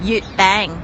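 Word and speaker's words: 月餅: Yut bang.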